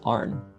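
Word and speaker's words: Arne: you pronounce it though it's just arn thomas arn rural britannia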